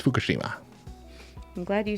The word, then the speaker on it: Fukushima: It's Fukushima.